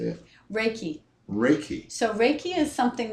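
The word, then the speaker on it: Reiki: still do the I don't know how to pronounce it r i k how do you say it raiki raiki so raiki is something that I well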